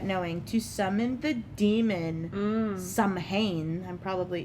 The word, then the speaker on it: Samhain: to summon the demon Samhain. I'm probably pronouncing that wrong. Samhain. It's true. I know, it looks weird, but it's Samhain.